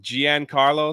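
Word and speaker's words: Giancarlo: and everything he was like top tier um Gian Carlo that's how you say it okay Gian Carlo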